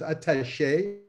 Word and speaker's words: attaché: Prior to this, she was the research and innovation attaché, which I should pronounce attaché en français, for the Quebec government